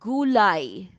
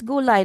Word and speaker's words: gulay: It's not gulay. It's gu gulay.